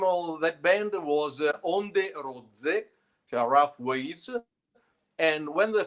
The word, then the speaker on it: ODRZ: The name of the band is ODRZ. Oh, okay. Just pronounce ODRZ.